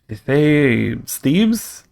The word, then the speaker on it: Thebes: I've only ever heard it pronounced as a single syllable. Yeah, Thebes.